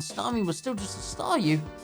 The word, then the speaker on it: Staryu: was still just a Staryu, I could never pronounce his name right. It always ended up sounding like saw you.